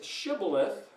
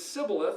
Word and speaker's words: shibboleth: So everybody who says shibboleth is obviously this, and everybody who says sibboleth is that.